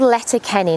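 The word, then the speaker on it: Letterkenny: Uh today we're about to head off uh from it's a place called Letter Kenny. Now that's the English pronunciation in Irish. Forgive me if I mispronounce it, but it is Letter Kennan.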